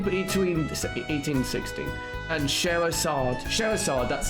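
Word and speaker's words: Scherazard: And Sherazad, that's how you say it.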